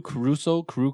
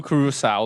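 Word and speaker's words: Curaçao: 2 parts blue Caruso, I don't know how Carousel.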